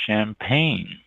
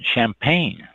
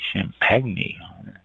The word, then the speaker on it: champagne: is the next one champagne c h m p a g NE e champagney if you want to mispronounce it really bad champagne is one of